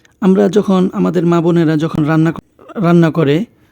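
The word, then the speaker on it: ر: পরের হরফটি হচ্ছে র র বাংলায় আমরা র যেভাবে বলি র থেকে কিছুটা একটু পরিবর্তন হবে র জিহ্বা উল্টিয়ে যাবে উচ্চারণটা হবে র র র তারপরে হরফটি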